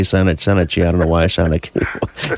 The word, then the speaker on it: Shanachie: It's actually Shanachie. Shanachie? Yes. Okay, I always say Shanachie.